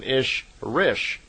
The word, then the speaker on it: Ishrish: And a female Ishwish is called an Ishrish, I-S-H-R-I-S-H. So in effect, Simyasi is an Elo Ishrish, is how they would pronounce it in her language.